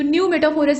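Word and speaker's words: pneumatophores: ये जो वर्ड है ना, इसमें पी का जो प्रोनाउंसिएशन है वो साइलेंट रहेगा, तो न्यू मेटाफोरस इसको प्रोनाउंस करेंगे।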